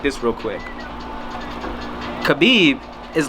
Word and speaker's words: Khabib: Khabib.